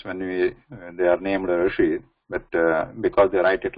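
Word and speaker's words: ऋषि: So if you know here Rishi, this Rishi is the how we have to pronounce this R here.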